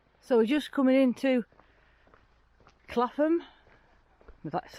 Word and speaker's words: Clapham: for the village so we're just coming into clatham that's how you say it village so it's